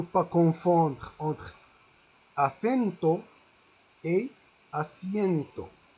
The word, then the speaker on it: asiento: Un autre mot, no confondas con, il ne faut pas confondre entre acento et asiento. Regardez bien la prononciation. Asiento, on prononce C con C, C con C, C. Asiento et asiento.